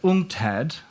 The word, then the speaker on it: UNCTAD: He is the Senior Director for Investment and Enterprise at UNCTAD. Is that how you say it? Oh, that's how I say it. UNCTAD, yes.